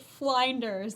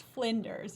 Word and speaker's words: Flinders: Okay, I pronounced it Flinders. It is not Flinders. It's Flinders University. I like Flinders. It's spelled like blinders.